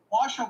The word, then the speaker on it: Washoe: They had a big lead in Clark County, which is Las Vegas, and Washoe County, which you pronounced perfectly, is northern Nevada with Reno, and